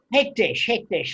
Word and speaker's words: hekdesh: So what happens with what pronounce the name concentration, not concentration? Hekdesh.